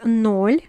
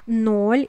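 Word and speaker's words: ноль: The 0 is nol in Russian, or there's also another pronunciation, is nul. Both mean basically the same, but as a Russian speaker I'm gonna tell you that nol is used very often.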